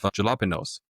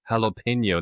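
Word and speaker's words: jalapeño: How is that pronounced like an H? Jalapeno. That makes no sense." Of course, I didn't know that was a Spanish word, right?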